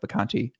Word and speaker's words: Vacanti: on Twitter at Mike Vacanti, not Mike VI, it's VA, which I sometimes spell it VI in my mind because it sounds like the Conti, like VI.